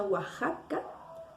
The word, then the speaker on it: Oaxaca: palabras difíciles de escribir la palabra oaxaca se escucha oaxaca como si tuviera en su contenido una letra j pero en realidad en